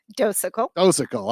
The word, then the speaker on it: Docekal: I think I might have pronounced that somewhat right. Did I get it? Docekal.